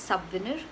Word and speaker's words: souvenir: So that's souvenir, and then it evolved to the French word called souvenir. Again, I don't know how to pronounce it in French. I'm not taking any risks with that, but I think it's very similar, except that the V is elongated. Souvenir, I think so.